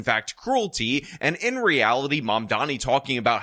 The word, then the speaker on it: Mamdani: is the fact that Mayor Eric Adams cannot pronounce Mom Donniey's name. And that is absolutely hilarious. the mayor elect Lauron Mandani.